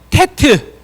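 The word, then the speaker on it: טית: 그 다음에 테트. 테트요. 테트는요. 이렇게 씁니다. 잘 보셔야 돼요. 자, 밑에서 이렇게 씁니다. 테트. 뭐 그냥 이렇게 쓰셔도 되고요. 또는 이렇게 해서 이렇게 쓰시면 돼요. 테트. 테트. 발음은 티귿 발음이야.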